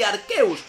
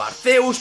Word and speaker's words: Arceus: Me parece preciosa esta Pokémon, y Arceus o Arceus, por lo que queráis pronunciarlo de diferente manera, aprovecha el turno del